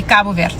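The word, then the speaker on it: Cabo: So, yeah, those are the two ways you could say it. You could say it in English, which is K bird, or you could say it in creu/P Portuguese, the Portuguese way. I don't know how to say it like sophisticated, guys. Okay, so I'm going to say it my way. It's going to be Kabu.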